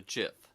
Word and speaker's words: GIF: graphic interchange format so you would think graphic that's a hard G it would be GIF except the person who invented it calls a CHF so it's a little confusing so call it what